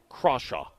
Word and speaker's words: Crawshaw: And by the way, the pronunciation after watching some YouTube videos is Crawshaw. Yeah, well, it's spelled like Crawshaw. Yeah, but some people call him Crayshaw. It's Crawshaw.